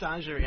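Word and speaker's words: Messagerie: Messageri. It's it's it's pronounced massagerie.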